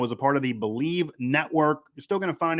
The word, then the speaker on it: Bleav: to find them at believe network on twitter and that is b l e a v by the way but it is pronounced believe also everywhere they have